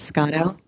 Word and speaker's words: Scotto: It's Scotto. Scott with an O at the end, hyphen.